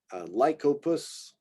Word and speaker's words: Lycopus: Lycopus, we've got a hard C here, so I guess that makes it a different Y sound.